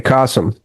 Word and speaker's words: Kasim: It's like awesome with a K. Kasum.